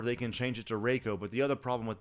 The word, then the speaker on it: Reiko: would be Reiko okay I know what you're thinking E.I should be I right that's not correct because if it's e i in German you do that like in Einstein or something like that that is when it's pronounced like that but if it is a Japanese name you would pronounce it a so E I would be a so it'd be Reiko so my thoughts are